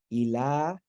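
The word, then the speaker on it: إله: So, you know, like there's no aleph written into the word here, but with the upright vowel, you pronounce it as a lengthened ah sound. This is the lam, ilah, and then what is this?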